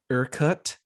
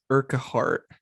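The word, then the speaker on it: Urquhart: surrounding it including a castle that's called aircut castle but i kept saying it for years as urca heart so if i mispronounce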